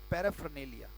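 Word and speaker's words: paraphernalia: से कहते हैं कि बड़ा प्यारा शब्द है पैराफरनेलिया उच्चारण है पैर ए पैर आफ ऑल समा जाता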